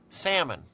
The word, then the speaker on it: salmon: oven I'm I'm very impressed that you pronounced the L salmon oh I don't know if I did you may have heard the L trust me salmon I'm cooking salmon you